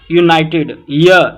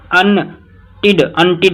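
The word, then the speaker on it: united: हाँ जी, तो क्या रहेगा इधर 16th में, बाय आ यूनाइटेड, यूनाइटेड है। अनटिड ऐसे नहीं बोलेंगे तो रॉन्ग प्रोनाउंस करोगे तो गलत हो जाएगा, अनटिड बोलेंगे तो दिक्कत हो जाएगी जी।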